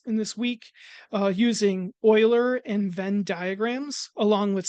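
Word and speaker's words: Euler: sets in this in this week uh using oiler and vin diagrams along with set notation and terms. So, as a note, um that name U E U L E R is pronounced Oiler.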